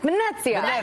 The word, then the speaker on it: Venezia: You got to say it like Italian, like Venezia.